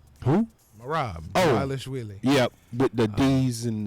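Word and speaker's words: Dvalishvili: Dwalishvili is actually how we pronounce his name. Who? Merab. Oh. Dwalishvili.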